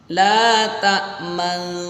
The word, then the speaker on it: لا تأمنا: ayatnya ayat yang ke-11 ada bacaan la ta'manna. Tulisannya la ta'manna namun dibaca ismam. La ta'manna. Jadi ada mecucunya di tengah-tengah. La ta'manna. Jadi jangan langsung la ta'manna gitu. Tapi la ta'manna atau la ta'manna gitu. Bisa dipahami? Namanya ismam. Jangan sampai dibaca gunnah, ya.